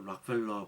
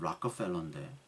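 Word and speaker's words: Rockefeller: 여러분 락커펠러 그 락펠러 발음 락커펠러인데 정확한 발음 락커펠러가 참 나중에 이 양반이 뭐 하나님을 어떻게 잘 회개해서 돌아왔나 그건 모르겠어요 솔직히.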